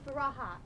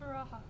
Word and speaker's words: Faraha: Hello, Faraha. Is that how I say it? Is that how I pronounce it? Yes, Faraha.